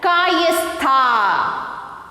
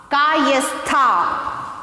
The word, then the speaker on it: Kayastha: Next, K-A-Y-A-S-T-H-A-S. So how to pronounce this? See here, Kayastha. Kayastha.